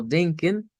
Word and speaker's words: denken: La del final es una ishbah. En esa de ken, no es E, ni es esta E cerrada, ni tampoco es una E abierta, es una ishbah.